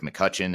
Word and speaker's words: McCutcheon: And just for those that are listening to the audio only version, it's McCutcheon, and the last name is spelled McCutcheon. So there's an E in there that's silent, but it's McCutcheon, but